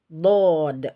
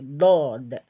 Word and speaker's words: ض: itu eh adalah eh suara di Arahkan ke atas saat pengucapan Dod seperti itu ya ketika difthah jadi Dod seperti itu ya jadi suara itu penuh ya ke bagian atas bagian atas ini sehingga memunculkan sifat ee Dod itu tebal ya jadi seperti ini